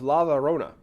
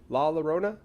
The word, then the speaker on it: La Llorona: actually a few people um the legend of lava Rona and I'm really hoping that I'm pronouncing that correctly La Llorona which roughly translates to um I've heard some